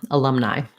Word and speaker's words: alumni: And then finally we end with alumni, the I diphthong. So I could write it this way, like as in I, or IE like lie, or just as an I, or IH. All those are different spellings for the I diphthong, alumni. Just like the letter says its name.